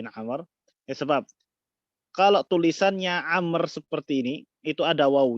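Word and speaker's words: عمرو: Amru toko babi nomor yang sebab Kalau tulisannya Amr seperti ini itu ada WOW nya ada baunya disini seperti ini Hai ini bacanya Amr Apa bahasa Indonesianya seperti ini Anger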